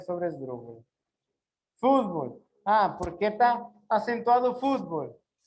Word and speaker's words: fútbol: Fútbol. ¿Por qué está acentuado fútbol? Fútbol. Porque lembran la regra. Ela sería una grave, mas ela grave é acentuada ou não acentuada?